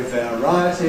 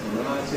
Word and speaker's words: variety: So we don’t say ‘variety’ /veəˈraɪəti/. We say ‘variety’ /vəˈraɪəti/.